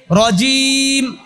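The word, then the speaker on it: رجيم: মিনাশ শাইত শাইতানির রজিম রজিম জিম কি জিম তো আর জালের মতো না জিমটা চাপ দিয়ে উচ্চারণ করতে হয় রজিম তারপরে বিসমিল্লাহির বিসমিল্লাহির মা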